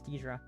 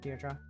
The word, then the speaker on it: Deidre: It's Deidre. God, it's not Deirdre. It's fucking shit's lie to me.